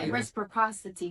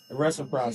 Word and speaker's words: reciprocity: Respocity guys. The what? Go ahead. Respocity. Respocity. Am I saying it wrong? Yes. You saying something? Reciprocity.